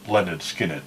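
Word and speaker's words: Lynyrd Skynyrd: I know a little Leonard Skinner from the album pronounced Leonard Skinner no that's what I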